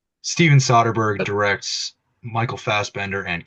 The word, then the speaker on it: Soderbergh: the last week I did learn the proper pronunciation Steven soberg directs Michael fast bender and cap Lanett in